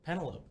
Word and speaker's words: Penelope: something stupid like I didn't know how to pronounce the word the name Penelope until like college yeah Penelope because can telepe no and healthy no well